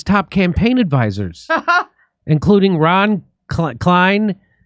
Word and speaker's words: Klain: The family criticized his top campaign advisors, including Ron Klein. How do you say? Is it Klain? Ron Klain.